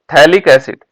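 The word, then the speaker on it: phthalic acid: इसमें इसको क्या बोलेंगे, इसको बोलते हैं थैलिक एसिड। और थैलिक एसिड की स्पेलिंग क्या होगी, PHTHA, ये है थैलिक एसिड। PH से शुरू होती है बेटा इसकी स्पेलिंग, है ना।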